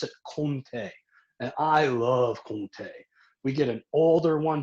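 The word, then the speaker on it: Comté: spelled like it would sound like it'd be compti c-o-m-t-e but they pronounce it and i love kunte we get an older one during the christmas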